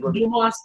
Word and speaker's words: Dumas: so hence in the Dumas in L 1935 yeah Duma is they tend not to pronounce the S but I don't know